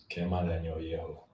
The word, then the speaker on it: Quema de año viejo: Okay, so which one is the correct pronounce? I think Dhaka is closest. Okay, so now it's your turn to pronounce this. Quema de año viejo.